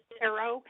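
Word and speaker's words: Cairo: williams just a correction the town of c-a-i-r-o usually pronounces this arrow as like an arrow i know that i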